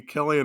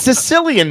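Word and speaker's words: Cillian: he breathing on neck it's Sicilian Murphy isn't it yeah by you know what's funny I I pronounced it that way until I saw this movie and was watching some interview and they said his name killy and I'm like oh I've been saying it wrong all these years yeah again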